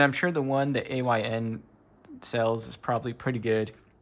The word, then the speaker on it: AYN: I called it the ionthor. I guess it's the ayn or how would you say it?